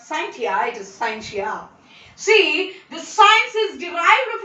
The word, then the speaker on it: scientia: derived from the latin word scientia many will pronounce it as scientist is not scientia it is scientia see the science is derived from the latin